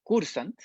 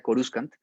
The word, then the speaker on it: Coruscant: dato curioso la palabra cursan corsán viene realmente del verbo latino chorus co si uno pronuncia la cursan bien sería coruscant que significa titular o